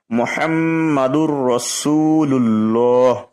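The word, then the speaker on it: مُحَمَّدٌ رَسُولُ ٱللَّٰهِ: এই যে মুহাম্মা, এটা গুণনা হবে। গুণনা মানে নাক দিয়ে উচ্চারণ হয়। মুহাম্মাদুর রাসূলুল্লাহ, রসু এখানে 1 লিপ টান হবে। লুল্লাহ 1 লিপ টান হচ্ছে।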